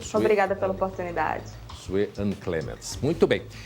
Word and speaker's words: Clemens: Doutora Sue-Ann Clemens, está correta a pronúncia? Clemens, perdão.